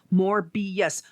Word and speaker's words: Morbius: It's Morbius.